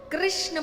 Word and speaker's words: कृष्ण: कृष्ण बोलने में जीभ घूमती है। बोलो घूमी जिसकी नई घूमी गलत बोल रहा है। सही उच्चारण करेंगे तो घूमेगी।